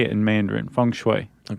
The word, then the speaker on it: feng shui: If it's Mandarin that we're speaking, Chuck, yeah, we should say funue. Funue. Fun. I guess I usually say it in Mandarin. Funue.